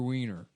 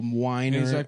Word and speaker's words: Weiner: It's an interview with Andrew Weiner. Yeah, that's the guy that wrote it, right? Yep. Matthew Winer. Matthew Weiner. Oh, Winer.